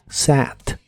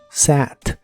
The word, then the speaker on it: sat: el pasado es SAT la a de esta palabra se pronuncia como si fuese el sonido e y el sonido a juntos SAT SAT y la puedes usar